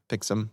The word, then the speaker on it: Pixm: how to pronounce pixm I didn't know if it was pixum or I would said pixum yeah it's pix pixum pixum uh I suggest to